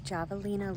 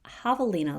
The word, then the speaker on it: Javelina: And moments after filming that, I realized it's pronounced Javelina Leap, so please forgive me.